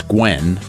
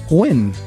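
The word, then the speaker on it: Nguyen: gu y en that's Gwen it's pronounced win yeah Wow my father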